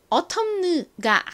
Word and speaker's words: autumn: 자, 이렇게 M과 N이 연달아서 왔을 때에는 보통 N이 소리가 나지 않아요. 묵음이 됩니다. 그래서 이 단어의 발음은 autumn가 아니라 그냥 autumn입니다. 그런데 이 단어 역시 미국 사람들이 발음을 할 때 이 t를 버터 발음처럼 약간 리을처럼 발음을 합니다. 그래서 autumn이 아니라 autumn 이렇게 발음을 주로 한다는 거 알아두세요.